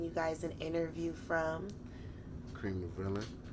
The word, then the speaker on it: Cream Da Villain: to be bringing you guys an interview from cream the villain say it one more time cream the villain okay because i've i've been lying and telling people that your name was creme de villie i just i just feel like when it